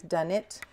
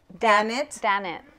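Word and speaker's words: Daknit: Done It Designs. Okay. All right. We're gonna go with that pronunciation. Sure. I don't know. I don't know how to say it. Yeah. Oh, Dan it. Okay. Dan it. There you go. We were corrected.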